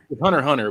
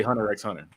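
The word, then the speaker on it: Hunter × Hunter: honestly how is it pronounced I we tried to watch it it's supposed to be just it's supposed to be 100 Hunter Hunter but I say Hunter x Hunter it's obviously right there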